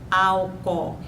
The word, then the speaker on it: álcool: Um exemplo é a palavra álcool, que nós pronunciamos álcool. Então, aí houve um processo de crase porque uma vogal suprimiu a outra na pronúncia.